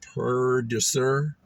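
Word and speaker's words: pwdre ser: before they decided that I think it's pronounced Purducer, did not exist.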